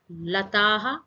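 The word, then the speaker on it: लताः: Lataha, a bunch of vines grow. Don't forget that visarga sound at the end. It's like a tiny gas.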